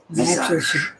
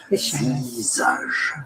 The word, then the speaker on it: visage: Visage is the French pronunciation. Visage.